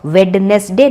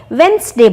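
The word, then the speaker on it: Wednesday: that is वन डे अब वेनसडे में जो डी है वह साइलेंट है मतलब हम डी का ड साउंड नहीं निकालते इसलिए हम उसको वेडनेसडे नहीं बोलते वेनसडे बोलते हैं उसके बाद वाला जो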